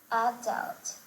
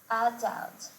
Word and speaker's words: adult: Some words, particularly those of French origin, are emphasized differently in American English, with the last syllable stress in American English and the first syllable stress in British English.